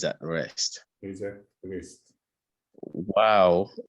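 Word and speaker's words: واو: Wow is pronounced by circling the lips.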